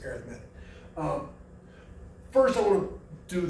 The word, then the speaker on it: arithmetic: equations based on patterns also called arithmetic sequences or arithmetic sequences pronounced arithmetic first i want to